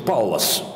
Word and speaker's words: Паллас: целом выступил пётр симон паллас правильное ударение на первый слог так говорят немцы для нашего уха это